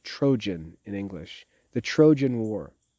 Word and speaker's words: Trojan: to call it the troian war but it's pronounced trojan in english the trojan war for ten years